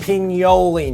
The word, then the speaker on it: pignoli: Can you pronounce it the right way? Pignoli nuts. Pignoli.